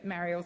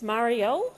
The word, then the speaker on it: Marielle: Senator Mariel please continue. I I would love to. It's Marielle. Um Senator Henderson through the chair through you chair. That's how you say my name.